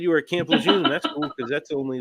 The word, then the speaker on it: Camp Lejeune: would tell me that it's supposed to be pronounced Camp Lejeune like with an r in it and they'd be stubborn